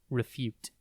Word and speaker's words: refute: time today's word is refute it is pronounced reute and spelled r e f u t e think ref like referee and then Ute UT before we get into